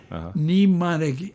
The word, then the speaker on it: mnemonic: no no it's crazy it starts with an m because like the word cano you don't say canola you say no w and the m is solid mnemonic m-n-e-m-o-n-i-c neem it's a